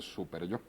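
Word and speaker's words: superyó: una parte este lingüística, super yo no se escribe súper con acento en la U. Yo, sino super yo es una sola palabra admitida por la Real Academia con acento en la O.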